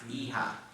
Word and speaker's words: hija: La hija. You don't pronounce the H though, just la hija.